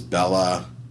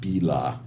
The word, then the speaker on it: Bila: I had been communicating via email with somebody with a name that I thought it was Bella or something to that effect, but it was actually pronounced Bila, and I didn't know.